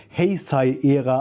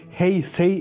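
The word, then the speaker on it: Heisei: der heai eha auftauchen Moment das wird anders ausgesprochen ich habe eben extra noch mal nachgeschaut hey say era wird das Ganze ausgesprochen zumindest im originaljpanischen da ist das S tatsächlich scharf deswegen ja müsst jetzt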